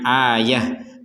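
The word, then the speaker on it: آية: sini kita barusan membacanya Ayah Padahal di sini tulisannya itu adalah ayatin Nah kenapa kita membaca Ayah karena berhenti nah begitu baca Quran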